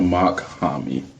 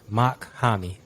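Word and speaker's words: Mach-Hommy: again uh ma kahami a mock homie I can spell it I can spell it for you is m-a-c-h and then you have a um what's it called a hyphen h-o-m-m-y mock homie you know like mock like a jet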